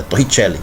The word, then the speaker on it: Torricelli: Mas como o cara é italiano, né? É Evangelista Torricelli. Italiano, então você tem que pronunciar italiano, é Torricelli, tá?